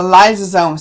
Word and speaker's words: lysosome: look at is the lysosome so lice rhymes with slice so these are the